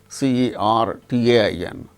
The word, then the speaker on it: certain: not pronounced, like certain, CERTAIN. R is followed by T, a consonant sound T. So, in such case r is not pronounced, certain.